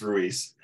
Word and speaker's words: Ruiz: okay I hear it all different ways it's Ruiz Ruiz okay so I said it right okay